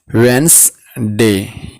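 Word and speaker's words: Wednesday: tune ट्यूसडे ट्यूसडे ट्यूसडे वेडनसडे silent on वेनसडे Thursday Harsh पढेंगे Thursday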